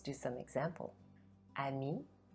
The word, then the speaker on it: ami: So unless the word is only one syllable long, E will always be silent when it's at the end of the word. Let's do some example. Ami, drôle.